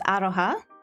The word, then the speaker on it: aroha: So I know love in Māori is aroha. Spelled like this.